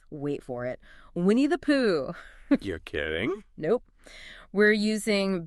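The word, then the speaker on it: P'u: Well, Hoff jumps right into a central Taoist idea called Pooh. You pronounce it just like Pooh, and it means the uncarved block.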